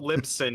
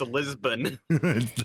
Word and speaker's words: Lisbon: that is not Lipson. It's Lisbon.